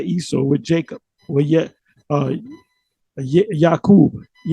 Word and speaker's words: Yaakov: We're Yakub. How do you say Yakub? Yaakov.